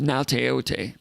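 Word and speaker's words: Gaoteote: It starts with a G, but it's pronounced Nauteote.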